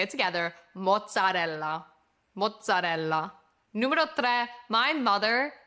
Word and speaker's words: mozzarella: Mutz or muzzadal is a very New York Italian American way of saying mozzarella.